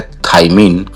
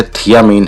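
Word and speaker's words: thiamine: इसका chemical name होता है थाइमिन। वास्तव में इसका नाम जो है थियामिन है।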